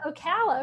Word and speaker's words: Ocala: the ocala national forest am i saying it right we'll call it ocala yeah ocala okay ocala national forest